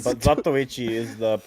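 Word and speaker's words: Zatoichi: Yeah, Zatishi is crazy. Zatui is the funniest name, but Zatichi is the correct pronunciation cuz it's Japanese.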